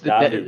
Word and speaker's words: Davide: What's Davide. the difference between Davide or Davide? Because you put the accent on the E, but the accent is on the I.